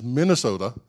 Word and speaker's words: Minnesota: And coming to Minnesota, that's how it's pronounced, not Minnesota, it's Minnesota, of course changed my career and the options that I had later on.